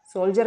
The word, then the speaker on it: soldier: SOLDIER। ये देखिए डी से पहले कुछ लेटर्स और डी के बाद में IER। तो यहाँ पर डी का उच्चारण क्या हो जाएगा? जा। क्या पढ़ेंगे हम इसे? सोल्जर का मतलब होता है सैनिक।